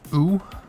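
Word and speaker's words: う: The U is pronounced oo. So just think of, I don't know, fucking saying U, but without the Y, oo.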